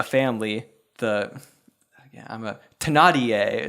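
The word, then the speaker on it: Thénardier: the yeah I'm a tanadier is the French pronunciation yeah this time yeah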